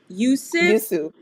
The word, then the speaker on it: Yoosuf: I am going to now bring into the room Miss Lande, and I know I'm going to pronounce the last name wrong. Is it Yoosuf? Yoosuf.